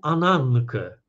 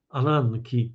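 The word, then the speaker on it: ἀνάγκη: I tutaj użył określenia, że to fatum, po grecku ananke, ananki w nowogreckiej wymowie, ananke, czyli przeznaczenie, los, trzyma to wszystko bardzo tak zdecydowanie.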